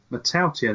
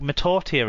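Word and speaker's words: Mata'utia: I mean, how many different pronunciations of one name do we need? Well, one, Matautia, that's it.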